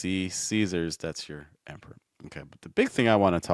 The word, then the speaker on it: Caesars: E Caesars.